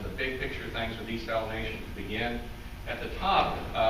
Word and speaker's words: desalination: big picture things with desalination to begin. At the top, people take, I guess we're supposed to say desalination. Some people say desalinization and all sorts of other things. We're in West Texas in